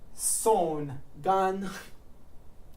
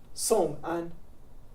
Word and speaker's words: 宋安: So I'm O Song An, not Song Gan. Song An.